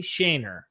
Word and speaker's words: Shaner: Shainer. Am I pronouncing that properly still?